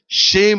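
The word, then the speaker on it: שֵׁם: தமிழ்ல சேம் சொல்றோம், ஆங்கிலத்துல ஷேம் அப்படின்னு சொல்லி சொல்லுவோம். ஷேம்னா இன்னொரு அர்த்தமும் இருக்கு. ஷேம் SHAME சொல்றோம் பார்த்தீங்களா? அதே உச்சரிப்பு தான்.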